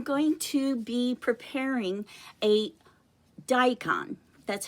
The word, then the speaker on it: daikon: Today I'm going to be preparing a daikon. That's how you pronounce it.